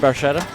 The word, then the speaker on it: Barchetta: game i just can't pronounce how do you pronounce the car bar peta barcuda or the multiballs barcelona marchetta there you go red barchetta all right there we go so there's